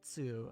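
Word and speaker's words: つ: T is very soft, like in tsunami. Tsunami. I feel like I might be typically when I say tsu, I feel like I might be overemphasizing the T, the T sound.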